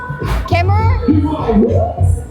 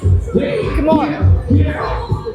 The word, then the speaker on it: Khmer: Kemmer? Come on. That's how you say it, right? Khmer.